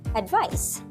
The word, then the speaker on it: advice: This is pronounced as advice with the S sound.